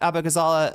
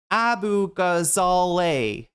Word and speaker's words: Abughazaleh: know some positions that Cat Abazala uh sorry I'm mispronouncing her name. I actually know everybody everybody up her name. I her up her name the first time or I like fumbled it right. Abu Gazale. Sorry that's how you pronounce it.